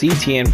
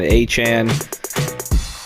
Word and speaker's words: Etienne: was ETN for the longest time, but I guess he decided that he wants to go by his actual pronunciation, Etienne, and I guess he